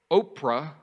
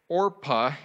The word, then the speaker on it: Orpah: these two moabite ladies now oprah orpah say it right come on orpah means